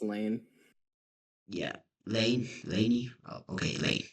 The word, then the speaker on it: Layne: Well, anyways, today I'm here with Lainey, also known as, and It's pronounced Lane.